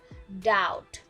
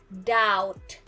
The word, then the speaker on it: doubt: t without the b the b is silent so you can try to pronounce like doubt without the b not dao but doubt the t okay and